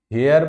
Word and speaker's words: heir: पहले तो इसका उच्चारण ही करते हैं कि इसको क्या करेंगे, हेयर पढ़ेंगे, ईयर पढ़ेंगे कि क्या पढ़ेंगे। तो ये एच को साइलेंट करेंगे, ईयर पढ़ेंगे।